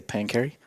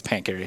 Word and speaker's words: Pancheri: was it's funny because when i see the street i always just automatically say pain carry when i first saw your name i was like pancho i was like still pronouncing it weird and then dylan's like it's pancary i'm like i've kind